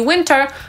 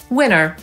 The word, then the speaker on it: winter: Większość osób mówi winter, ale są też tacy, którzy mówią winner, czyli tak samo jak zwycięzca.